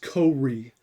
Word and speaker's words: CO-RE: once run everywhere and i'm not sure if i'm pronouncing that correctly if it's ko re or c-o-r-e or core um i like to call it co-re because it's fun and